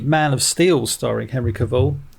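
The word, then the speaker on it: Cavill: of Steel starring Henry caval I can't say his name Henry caval there we go I'm saying it right now Henry caval um when I went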